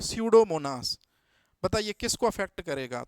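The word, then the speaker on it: Pseudomonas: तो स्यूडोमोनास में P silent होता है और एस, तो अब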